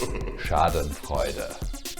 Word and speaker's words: Schadenfreude: That is Schadenfreude.